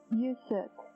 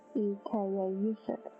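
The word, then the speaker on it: Yuksek: and maybe you can help me with the pronunciation of this guy's name. Is it Yusek? Yusek. It's Y-U-K-S-E-K-A, Yusek, Sunrise.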